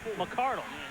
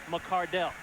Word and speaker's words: McCardell: the Cleveland Browns I thought we used to pronounce his name McArdle and I was right we did yep well his father sent a letter to the organization saying the correct pronunciation of the name is McCardell very politely did it in the right way